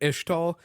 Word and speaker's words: Ixtal: But a lot of it is within the region of Ixtal. I'm going by the spelling of Ixtal with the American pronunciation. I know I've seen a lot of people saying Ishtal.